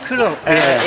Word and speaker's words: Kowloon: And Kowloon, how do you pronounce Kowloon? Kowloon.